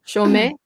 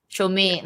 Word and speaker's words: Chaumet: How do you pronounce it? Chaumet. Chaumet.